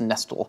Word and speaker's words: nestle: That it's not a silent T in nestle, it's nestle.